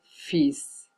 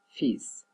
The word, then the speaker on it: fils: les S, mars et fils. On prononce pas les L, mais on prononce le S, fils.